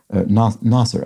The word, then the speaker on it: Nasir: comment, which is that when you think of it as an Arabic name, it's tough to mispronounce.